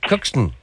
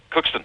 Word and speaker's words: Cookstown: Cookston. Cookston. Cookston. Cookston. No. Too much of a T. Cookston. Cookston. No, there's a bit of a D there.